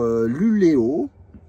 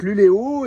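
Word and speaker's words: Luleå: Alors, dans cette vidéo, nous allons voir Luléo. Qui s'écrit Luléa, mais avec un petit rond dessus. Et en fait, quand c'est un A avec un rond dessus, ça se prononce O.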